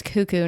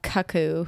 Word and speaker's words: cuckoo: c c KO o tell us in the comments if it's cuckoo because I'm pretty sure it's cuckoo not Kaku who says that that's